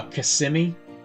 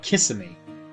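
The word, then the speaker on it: Kissimmee: Uh CMI. Yeah, they don't call it CM here. They call it kiss and every time they say it, I'm like, "What the hell are you saying?"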